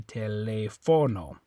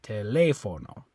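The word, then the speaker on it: teléfono: So, because if you didn't have that accent mark there, if there was no accent mark, you'd say telefono. Okay, but they want you to pronounce it telefono.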